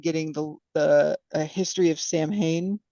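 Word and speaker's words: Samhain: the the history of Sam Hayne or saen is that how they really say it yeah that's a I think that's a Gaelic pronunciation yeah um she's like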